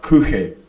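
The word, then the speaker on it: Kuchen: It's pronounced Kuche, not.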